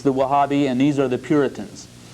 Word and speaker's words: Wahhabi: among themselves uh first of all there's the wahhabi now you see on your outlines this w-a-h-a-b-i uh some sources I read only had one H but it's the wahhabi and these are the Puritans uh this is